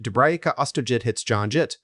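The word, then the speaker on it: Dubravka Ostojić: Dubravka Ostojic, pronounced Dubrajica Ostojit, born 19 June 1961, is a Croatian actress.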